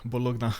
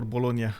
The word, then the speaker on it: Bologna: and bonus oh bolog bologna or bologa I like to say bologa but I don't know some people pronounce it bologna it's is that for